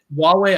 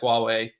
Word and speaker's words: Huawei: don't know how to say this oh wait Huawei okay that's what I thought but I wasn't